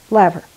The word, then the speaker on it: laver: was studying was for fyra which we call Laver and which the Japanese call nori you know I think it might be pronounced laughter what do you know is it laughing okay levar thank you hop in any time to correct